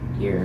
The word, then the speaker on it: Eyre: It's actually like Jane Eyre, like A-I-R.